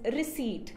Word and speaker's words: receipt: The correct pronunciation is receipt, where P is silent.